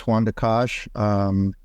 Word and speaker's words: Juan Dakich: You actually said it right. My name is Juan Dakich.